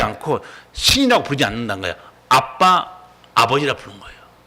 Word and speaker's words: 아빠: 아빠 아버지라 부르는 거예요. 여기서 번역이 아바로 되어 있지만 실제 발음은요 아빠입니다. 그러니까 유대인의 애들이 아빠 이렇게 발음해요.